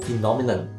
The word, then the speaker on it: phenomenon: The pronunciation is a little tricky too, but it is a good word to know because it is used often. Phenomenon. The first syllable is phi, and the rest is easier to figure out.